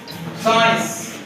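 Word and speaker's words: science: साइंस, इसमें भी हम एस को पढ़ते हैं, सी को नहीं पढ़ते, साइंस, समझ आ गई?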